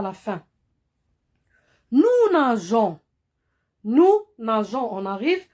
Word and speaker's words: nageons: Sinon, si on ne met pas de E, on va prononcer G, comme on a vu dans la leçon de la lettre G. Si on trouve, ou bien G suivi d'un O, se prononce go. C'est pourquoi on met la lettre E. On met un E après la lettre G. Et on lit nous nageons.